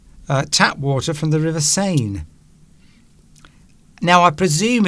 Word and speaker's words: Seine: And it turns out that the River Seine, or the Seine, as some people pronounce it, is a little bit dirty.